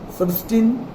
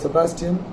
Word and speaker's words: Sebastian: So when I was young, my Muslim playmates could not pronounce my name. So some would call me Serstin, some would call me Sedestin. Those who could not even pronounce that gave me a Muslim name. It didn't matter to me. At home I was Sebastian.